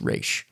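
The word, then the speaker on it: Ra's: and evidently per him is supposed to be pronounced re perfect yeah well then I guess in a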